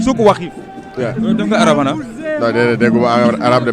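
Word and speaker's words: Souq Waqif: C'est comment on le prononce? Souk Wakif. Souk Wakif.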